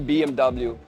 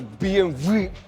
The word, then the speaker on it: BMW: It's actally BMW but you know some pronounce it as BMV V8 Mస్ට here we